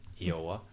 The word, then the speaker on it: Iowa: Yes, that's how I was pronouncing that name, Iowa.